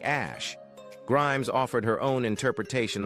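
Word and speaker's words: Æ: Musk explained on the Joe Rogan Experience podcast that X is pronounced like the letter, while AE is said like Ash.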